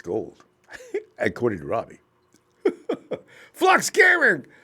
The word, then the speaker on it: Gould: back at Salinas High but this is not pronounced gold it's gold according to Robbie flux gearing up for a